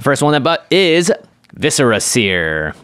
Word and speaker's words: Viscera Seer: one i bought is viscera seer or as we used to pronounce it five years ago viserys here very incorrect it's one black for